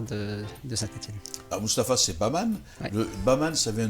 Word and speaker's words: Bahman: Ah, Moustapha, c'est Baman. Ouais. Le Baman, ça vient d'où ce nom Baman? On prononcera un nom anglais?